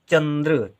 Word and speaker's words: चंद्र: फिर है चंद्र ग्रहण चंद्र चंचल के साथ चंद है ना बहुत कम समय रेप की मात्रा के रूप में ठीक है चंद्र तो दा में साथी रा का उच्चारण हो रहा है गा के बाद में